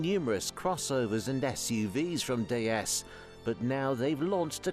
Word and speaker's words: DS: produced the Bon designed DS pronounced like the word for goddess in French cemented citen as one